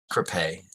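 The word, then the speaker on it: crêpe: It's pronounced crepe. Okay. I don't. I'm sorry. I mean, Sophia. It's pronounced crepe. It's French.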